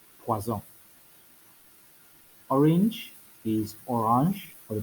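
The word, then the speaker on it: poisson: poison in the holy spirit but it's actually pronounced as poison poison orange is orange or the plural which would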